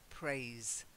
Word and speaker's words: praise: and that's to praise it's not praise praise it's not too soft it's vibrating praise that's it to praise